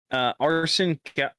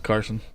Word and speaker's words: Carson: Arson Quapple. I said it right. I almost didn't, but I said it right. Carson. Isn't it Carson or is it Arson? It's Carson.